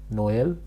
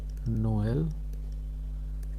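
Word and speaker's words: Noël: And both the vowels are pronounced separately.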